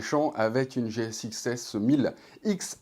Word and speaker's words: GSX-S 1000 X: avec une GSX-S 1000 X à prononcer cross, mais enfin moi je dirais X quand même.